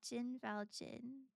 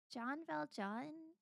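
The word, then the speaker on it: Jean Valjean: It's like John Vag John French, not Jin Valjin. John Valjon.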